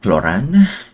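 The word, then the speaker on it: Clorinde: was M cloran oh so that's how you pronounce it cloran oh that's her well then isn't that as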